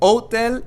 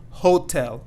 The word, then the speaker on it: hotel: be saying hotel, and we're not going to be saying the H here because the H is silent. So hotel and not hotel.